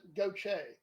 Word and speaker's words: Gaultier: right now, and John Gaultier. How do you say your last name, John? Gaultier? I pronounce it Goche, phonetically. Okay. Gocha.